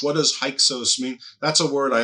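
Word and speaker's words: Hyksos: Uh, some people call it the hick sauce. They do in America quite a lot.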